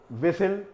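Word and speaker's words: whistle: विसिल, यहाँ पर T silent होगा।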